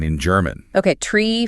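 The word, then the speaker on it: three: You'll hear numbers like 3, 5, and 9 spoken as tree, fife, and niner.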